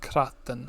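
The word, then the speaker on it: cnatan: The CN here, there's a lot of consonant clusters in Gaelic which are consistently pronounced in a way which you wouldn't quite expect, and CN is one of them. It's never kn, it's kr. So kraten.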